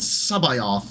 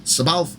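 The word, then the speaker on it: C'baoth: to meet jusis Sabal if you go to the audiobooks The Modern Audi books they will pronounce it Sao uh I am not a big fan of that pronun pronunciation so I will pronounce it Sabal and his relationship with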